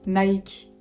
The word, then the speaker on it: Nike: Je sais que c'est différent en anglais, mais en français, on va dire Nike. On s'arrête au K. Nike. Ouais. On prononce pas le I à la française parce que sinon...